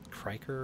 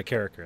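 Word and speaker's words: Carriker: It's like Matt Kriker or something like that. Dr. Matt Carricker. Yeah, Carricker, that's right. That's how you pronounce it.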